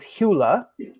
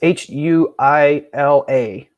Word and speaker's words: Huila: Then, for instance, you could also, which I sell, is Hula. I'm never sure of the pronunciation because I'm not Spanish. It's Huila. So it's Julia, Colombia.